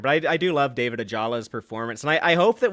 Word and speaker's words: Ajala: Ajala. Ajala.